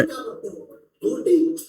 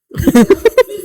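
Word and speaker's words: ghoti: गोटी गोटी नहीं, फिश पढ़ते हैं। ये जो गोटी वर्ड है ना, इसका प्रोनाउंसिएशन फिश है।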